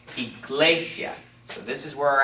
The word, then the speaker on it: iglesia: the second-to-last syllable so this is only one syllable it's not iglesia okay it's iglesia so this is where